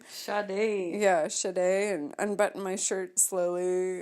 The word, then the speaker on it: Sade: how do you say her name Sade yes a day and unbutton my shirt slowly and probably tripped